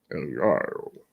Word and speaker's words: El Gallo: El Gallo. That's how his name's pronounced.